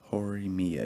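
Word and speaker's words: Horimiya: my gosh hold on forumia or Ori Mia hori Mia yeah okay okay sorry I didn't know how to pronounce that excuse me yeah okay is that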